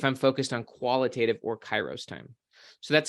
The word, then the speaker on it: kairos: One would be called kairos time, or kairos time, which is spelled K-A-I-R-O-S, kairos time, versus chronos time.